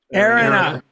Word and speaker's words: Erinna: Erinna.